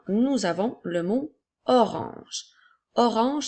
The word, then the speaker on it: orange: Orange s'écrit O, R, A, N qui font le son en, G, E. La lettre G fait le son J. Alors, nous avons O, R, ange qui fait orange.